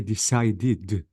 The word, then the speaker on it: decided: The first rule, guys, any verb ends with T or D I have to pronounce the E with D. Notice decide, because the verb ends with D sound, not word. I'm talking about sounds. You have to say decided.